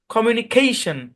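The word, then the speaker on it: communication: জোর প্রদান করা হয় যেমন এই কমিউনিকেশন শব্দের মধ্যে এই জায়গাটাতে স্ট্রেস আছে খেই এখানে আপনি ওই বিদেশীদের মুখে এই শব্দটার উচ্চারণ শুইনেন দেখেন ক্যামেরা বলে কমিউনিকেশন এখানে এসে একটা জোর দেয় খেই খেই একটা জোর দেয় কমিউনিকেশন কমিউনিকেশন দেইখেন মানে এই এখানে এসে জোর মারে মানে একটু ধাক্কা মারে সাউন্ডটাকে একটু উপরের দিকে তুলে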